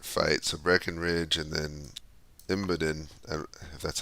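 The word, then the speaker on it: Imboden: fighting uh desperate fights a Breckenridge and then imidan that's how you say it um he can't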